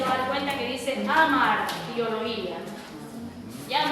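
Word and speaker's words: hamartiología: dar cuenta que dice amartiología. Ya, muchas personas lo pronuncian como hamar, y está correcto, ¿sí? Amartiología, muchas veces esas H suenan como una J.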